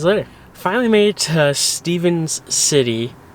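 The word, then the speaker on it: Stephens City: Finally made it to Stevens City, Virginia is the right way to say it.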